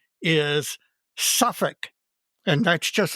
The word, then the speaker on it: Suffolk: And he wrote to inform me that the correct pronunciation is suffic.